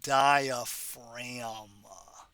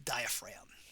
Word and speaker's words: diaphragm: go it is the diaphragm don't forget that silent g the diaphragm the diaphragm of course